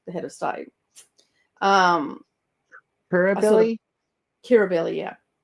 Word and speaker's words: Kirribilli: Kirribilli, yeah. Is that also spelled Curr? No, that is spelled. Kirribilli is Ki double R, I think. That makes more sense to me to say it cur, Kir, cur.